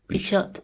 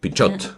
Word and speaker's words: Pichot: So then I have to pronounce the T. Pichot. Pichot.